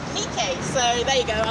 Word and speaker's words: Nike: So fun fact, I used to always call her Nike, but it's actually pronounced Nike.